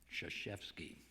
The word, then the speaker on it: Krzyzewski: Mike Krzyzewski, whose last name is spelled with 5 consecutive consonants. If you include Y as a consonant, K-R-Z-Y-Z, and he lets us off the hook by calling him Krzyzewski.